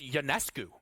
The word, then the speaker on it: Ionescu: I think it's Ionescu, by the way. I heard her pronounce it the other day. Kind of threw me off.